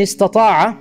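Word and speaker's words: استطاع: pronounce between the two, so you can say to istata'a, ista'a. You're allowed to say this, right? Istata'a, you can say ista'a.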